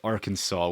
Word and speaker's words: Arkansas: Why is it pronounced Arkansas when it's spelled Arkansas?